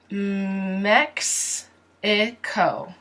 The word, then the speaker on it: Mexico: M always the uppercase now the X here does not sound like an H ha no it sounds like X X so the way you pronounce this mm X a co mm X a Co Mex ICO mechs mechs a Co Mex ICO Mexico Mexico Mexico Mexico New York